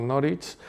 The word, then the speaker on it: Norwich: la está ahí en Norwich, pronunciado Norwich, en el contado de Norfolk, que fue es la segunda la segunda universidad que más he visitado yo en Inglaterra.